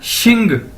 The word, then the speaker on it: XING: अगर इसके साथ हम जी लगा देंगे तो ये क्या बन जाएगा शिंग, XING शिंग।